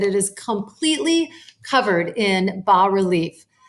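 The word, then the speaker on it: bas-relief: is completely covered in B relief B relief is spelled Bas relief and that means low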